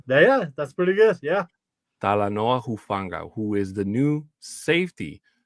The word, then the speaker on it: Talanoa Hufanga: to say it better than I can uh tala Noah huanga you got it yeah that's pretty good yeah talanoa hufanga who is the new safety for the Broncos